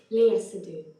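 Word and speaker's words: Léa Seydoux: Lee Sedox as Fragile is I'll just check how it's pronounced because I don't want to pronounce it wrong. Sorry for the interruption. Leah Sadu.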